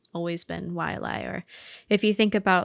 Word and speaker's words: Waiʻalae: Locals say Waiʻalae, but the correct pronunciation would actually be something like Waiʻalae, as the letter W is supposed to be pronounced as a V sound.